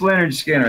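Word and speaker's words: Lynyrd Skynyrd: and then course it's not that oh yeah pronounced Leonard Skinner that's the one that's my favorite announced yeah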